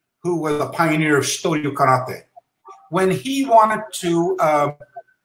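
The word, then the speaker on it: Shitō-ryū: So he said, Shitoryu. So I said, I get the idea. I can use the alternative pronunciation for Tei.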